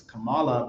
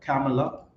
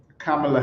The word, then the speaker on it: Kamala: let's good for Cela uh I used to pronounce it as Kamala but I heard like camela okay that's how it's pronounced okay uh camela Harris okay uh Bitcoin okay let's go Trump